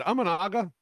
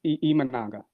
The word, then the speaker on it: Imanaga: Not only is it Amanaga? I mean, is that how we say his name? Yes, it's Imanaga.